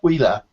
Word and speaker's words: UILA: The company's called, it's spelled UILA, but it's Hawaiian, and it's Huila, and it's kind of like lightning, and it's really for the VM.